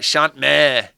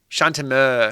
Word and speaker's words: Chante Mer: I was like Chant Meer. No, Chant Meer. Chant a Meer.